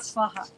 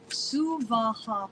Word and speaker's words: Suvaha: No, not Svaha. Suvaha, please. 3 equal syllables.